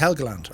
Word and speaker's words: Helgeland: we're going over uh helgeland or hegeland pronounced helgeland or eagleton uh we're flying over